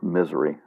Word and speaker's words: Missouri: hams here locally to an operator in missouri or misery as we pronounce it they use the